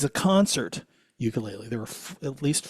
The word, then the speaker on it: ukulele: It's a concert ukulele.